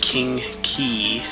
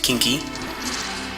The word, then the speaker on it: King Key: next robot and then it's pronounced king key not kinky as uh i think i've pronounced it uh before and it sounds a